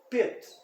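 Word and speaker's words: Pete: Pit. Ó, terminou em E. Isso aqui. E eu vou pronunciar que está lá no alfabeto. Vogal principal, então, é I. Longa. Pit. Pode ver que eu falo longo.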